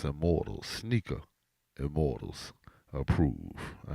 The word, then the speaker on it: SNKR IMMRTLS: And don't forget to follow S N K R I M R T L S pronounce immortals sneaker.